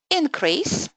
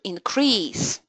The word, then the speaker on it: increase: Okay, so having in mind that stress on the first syllable indicates that you're talking about nouns, things, objects, and the stress on the second syllable indicates action, could you choose the right option?